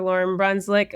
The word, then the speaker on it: Lauryn Brunclik: Lauren Brunswick on. Um, I'm going to You're the only person who's ever pronounced my name correctly in my introduction.